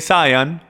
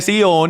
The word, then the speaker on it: Sion: el monte Sion y mucha gente lo llaman el monte saian pero es pronunciado el monte Sion y el monte Sion